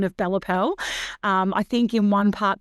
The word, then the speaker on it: Bella Pelle: Am I pronouncing the Pelle right? Yes, Bella Pelle. It depends on what part of Italy I think apparently you're from.